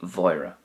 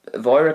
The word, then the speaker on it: Mháire: Now, Mháire can be pronounced Uaireanta as well, like a W sound, it's no problem.